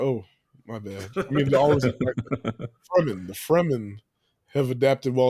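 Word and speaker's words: Fremen: Fman, Fman, Fman, sorry, not I I read that all the time and I always like Freeman." And it's like, "Oh, no. It's it's Fman."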